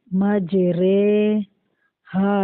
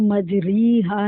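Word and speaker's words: مجريها: امالہ کی را کو اردو کے لفظ قطرے کی را کی طرح رے پڑھیں، ری نہیں، ٹھیک ہے.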